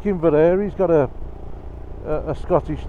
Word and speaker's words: Inveraray: Or ask a Scots person, like, how do you pronounce that? Yeah. And I go, that's Inveraray, you dumbass, that's what they say, isn't it?